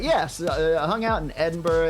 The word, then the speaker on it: Edinburgh: Edinburgh. Edinburgh. I always wonder why they don't pronounce the gh.